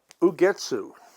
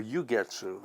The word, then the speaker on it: Ugetsu: Ugetsu, or Ugetsu, I think it's pronounced Ugetsu, Japanese.